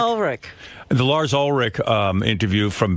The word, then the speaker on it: Ulrich: How do you say it, Ulrich? Ulrich.